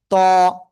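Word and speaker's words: ط: জিহ্বার আগা উপরে দিয়ে দাঁতের গোড়ায় লাগান, লাগান, লাগান, লাগিয়ে একটু মোটা আওয়াজে উচ্চারণ করতে হবে। ত, ত, ত, সবাই একসাথে একটু জোরে জোরে বলেন।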